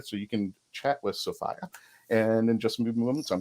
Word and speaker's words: Sophia: the correct way to say her name is sopia I've been corrected and I've corrected my 10-year